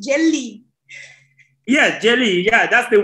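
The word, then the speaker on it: jeli: for griot is jelly so it's better say jelly jelly jelly okay am I right am I writing the accent jelly yeah jelly yeah that's the right accent yes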